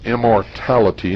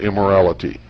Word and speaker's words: immortality: It's immortality, not immorality.